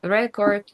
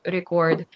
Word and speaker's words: record: the first syllable, but if it's a verb, it has to be on the second syllable, like present, present, visit, visit, record, record.